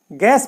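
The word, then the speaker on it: guess: गैस में भी देखिए यू के बाद में क्या ए गया तो ये यू साइलेंट हो गया और हम इसको पढ़ रहे हैं गैस इसी तरीके से देखिए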